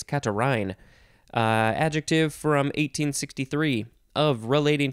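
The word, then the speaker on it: catarrhine: to the last one katarine or no actually it's catarin adjective from 1863 of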